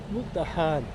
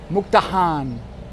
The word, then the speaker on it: Mukdahan: Mukdahan. Mukdahan.